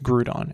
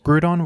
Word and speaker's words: Groudon: popular by the way I'm aware that I pronounce Groudon in a strange way when I was younger everybody at my school said Groudon like this and I never heard it pronounced any other way until years later I